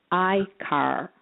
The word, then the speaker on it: akr: trust yes uh trust has the three letters which is akr pronounced i car they're very fascinating because they their names end up like the first one e-car this is i the